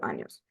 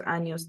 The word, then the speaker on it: años: Remember that años is pronounced like an N and a Y. So yo are tengo 44 años.